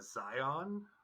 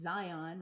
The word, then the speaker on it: Zion: But you can't pronounce it like that. It's not the Matrix. Zion. So in the Matrix, it's Zion, right? Hmm. In Utah, it's Zion.